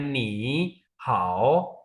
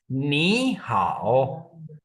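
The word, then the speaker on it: 你好: कि दो third tone जो है आप उसको प्रोनाउंस करेंगे तो वो डिफिकल्ट लगेगा जैसे आप बोले नी हाउ ऐसे नहीं इसको स्मूथली बोलने के लिए इसका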